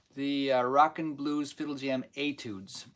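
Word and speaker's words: étude: rock and blues fiddlejam etudes Etude spelled phonetically a t o o d z I was trying to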